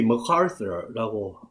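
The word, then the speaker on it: MacArthur: 우리가 메가더라고 부르는 이 머카서라고 미국 발음을 하는데요.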